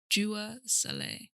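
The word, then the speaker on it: Dua Saleh: name but i cannot so i might spell it out but her name is jeweler saleh so d-u-a-s-a-l-e-h and she's a sudanese-american artist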